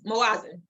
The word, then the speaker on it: Moazen: Tell us a little bit more about yourself, sisters, individuals, and why Moazen, I'm pronouncing it right, Moazen Jewelry, right? Close, Moazen. Thank you. Yeah, you got it.